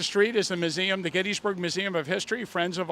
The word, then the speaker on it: Gettysburg: It's properly pronounced Gettysburg, and no matter how many times we say it, people tend to want to call it Gettysburg. I know that I say it wrong, but I like the way it sounds. I'm used to it, and Tim seems to be coming around to the proper pronunciation.